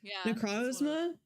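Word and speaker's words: Necrozma: I can never pronounce it. Necrosma.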